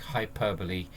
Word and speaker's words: hyperbole: Or for exaggeration we actually use hyperbole, so to give further emphasis or effect. Like if you want to create a bigger impact, so you use hyperbole. Okay, so its pronunciation is like hyperbole.